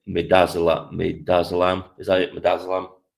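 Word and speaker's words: midazolam: Madazzelam. That's how you pronounce it.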